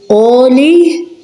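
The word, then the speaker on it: għoli: Ein in the beginning of a word is silent. For example, we have ar, that means cave, ar. Elii, fields. Oli, which means high.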